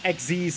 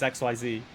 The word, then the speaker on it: XYZ: Yes, XZ's summon. XZ's. I don't like that. All my friends who play Yu-Gi-Oh! Like XZ's summon, and I'm like, no, it's XYZ. Just add the extra syllable.